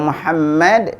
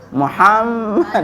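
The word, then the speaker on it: محمد: Jadi kalau Muhammad itu mimnya itu jangan sampai mingkem gitu. Muhammad gitu enggak. Biasa Muhammad.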